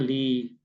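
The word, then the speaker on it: ܠܝ: Yod diikuti oleh ee titik di bawah. Jadi Yod titik bawah itu apa? Dibacanya I, ya. Nah, jadi yang pertamanya dibacanya li gitu ya.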